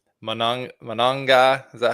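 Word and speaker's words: Monangai: Manong Manong. Is that how you say that Matt? Uh sorry. One more time. What' you say? Kyle. It's Manong, right? The Bears. Is that how you pronounce Kyle Manungai?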